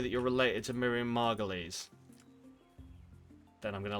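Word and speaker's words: Margolyes: Or it's Margalles, isn't it? I always pronounce it wrong. Miriam Margalles. Yeah, thank you. I knew you were going to say this, geek. Yes, I always get it wrong.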